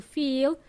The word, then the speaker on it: feel: So it's a short E sound, fill. And if you want to use to feel, to say you have feelings, it's a long E sound. To feel something, okay?